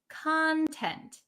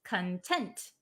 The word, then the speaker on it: content: yes satisfied um so this one content has a different pronunciation the one that we're talking about today is content the one that means happy or satisfied is content content so that is